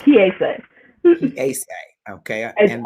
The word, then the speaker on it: Kiese: It's Kiese.